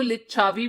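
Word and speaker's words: लिच्छवि: तो बहुत लोग इसको लिच्छावी भी बोलते हैं, बहुत लोग इसका दूसरा नाम लिच्छवी भी बोलते हैं, और डिफरेंट स्पेलिंग्स होते हैं इसके।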